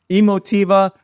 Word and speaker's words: Emotiva: it triangle all right last one emotiva emotiva I talked to the owner he said he named it after emotion so guess that one